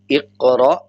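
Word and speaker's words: اقرأ: जाता है और हमज़ा जब अलिफ के ऊपर जज़म आ जाए तो वो झटके वाला हमज़ा पढ़ा जाता है। सेम पढ़ेंगे इक़रा व रब्बुकल अकरम।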